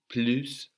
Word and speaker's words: plus: Pluta glue dad so again we don't pronounce that final consonant now we have blues written like plus in English but we pronounce blue Pluta I have to